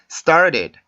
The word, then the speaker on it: started: 자, 이렇게도 발음을 하는데 근데 원어민들이 발음하는 소리를 잘 들어보면 이런 식으로 발음을 합니다. started, started, started. 이런 식으로 발음을 해요.